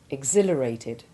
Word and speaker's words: exhilarated: The H is sounded in exhale and exhume, but is silent in exhaustion, exhibition, exhilarated, and exhort.